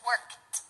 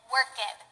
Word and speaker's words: worked: Now, the most common mistake that people make is to say worked, to pronounce the ed like ed, worked. This is wrong. This is very wrong. If the base form of the verb ends in a voiceless consonant, you just add a T sound to the end.